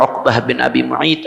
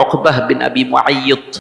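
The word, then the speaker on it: عقبة بن أبي معيط: Ada yang mengatakan bacanya Uqbah bin Abi Mu'ayt, ada yang mengatakan bacanya Uqbah bin Abi Mu'ayyid.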